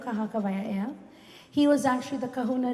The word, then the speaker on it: Kahakawaia'ea: Earlier we heard the word outside that somebody was trying to pronounce the name Kahakawaia'ea. Well, that is the name, Kahakawaia'ea.